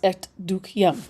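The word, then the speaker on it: Et dukkehjem: Uh, I'm sorry, Etukium, which the doll's house. Okay. It's pronounced etuk, right? Like that.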